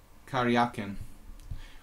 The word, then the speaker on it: Karjakin: Karyakin. I like to call him Karjakin. That's kind of a cool way to pronounce Karyakin.